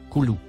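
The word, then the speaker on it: كلوا: Le deuxième mot, en surbrillance jaune, se prononce, Koulou.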